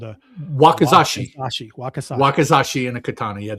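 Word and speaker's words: 脇差: The short katana, if I'm pronouncing this correctly, is called a Wakizashi.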